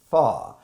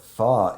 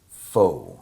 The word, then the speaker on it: phở: they feature far but the way it looks the way it's spelled it everybody pronounces it foe right and so but